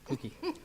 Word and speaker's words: Clucky: Yeah, it's a clue and a key. Ah, Clucky.